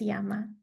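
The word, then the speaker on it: 山: It's pronounced yama and in the same way this was the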